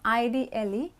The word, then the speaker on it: idle: nothing vacant or empty you use ID le the pronunciation is idle ok now we will